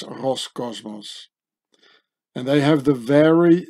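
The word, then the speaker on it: Роскосмос: It says Roscosmos. It's quite easy. There's just a few letters that are different, you know. And so the Cyrillic Russian C gets pronounced as an S. So it says Roscosmos.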